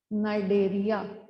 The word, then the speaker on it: Cnidaria: This is phylum Coelenterata, or also called as phylum Cnidaria. C is silent. Okay. This is called as phylum Cnidaria.